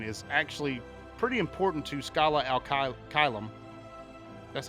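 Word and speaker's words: Scala ad Caelum: of them, Brain, is actually pretty important to Skyla Alka Kylum.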